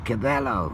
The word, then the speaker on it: Cabello: Well, you know, that is just how it's written. It never be the same by Camilla Cabello, but it's pronounced Cabello.